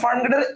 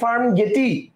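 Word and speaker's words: ফার্মগেট: তো আপনি তো ফার্ম গেটের একচুয়াল ইংলিশ বানানটা লিখে ফেলছেন। সো এটার উচ্চারণ যদি করতে চান এটা হবে হচ্ছে ফার্ম গেটি। This is নট ফার্ম গেটি। This is ফার্ম গেট।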